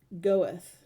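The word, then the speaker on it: Göth: camp was a German officer named a mon goeth let's see it says get us what you how you're supposed to pronounce it come on get here we heard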